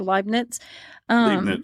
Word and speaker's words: Leibniz: I don't know how to pronounce that. Leibniz, I think.